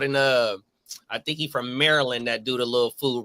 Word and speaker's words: Maryland: I want to say it's Maryland. Oh, my mom. It's funny. I said Maryland because that all my homies from D.C. and Maryland, they said, nah, bro, you're saying it wrong. Maryland.